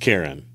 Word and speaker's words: Charon: It is pronounced Karen. No, it's not. The ferryman is pronounced Karen. So, no, it's not.